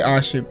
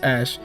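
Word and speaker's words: Ashe: I always gosh yes I used to say Austria Austria but it's ash so Ashland Vaughn actually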